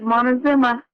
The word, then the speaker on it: Montezuma: Have I pronounced the place correctly? Montezuma, is that correct? Yes, you got it right. That's it, Montezuma.